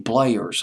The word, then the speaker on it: Bleyer: Archie Bleyers. I think I'm hoping I pronounced his name correctly. Bleyer, I believe was how you pronounce his last name, who ran that record label.